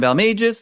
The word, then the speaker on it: Balmages: But uh my name is Balis. That is how you say it.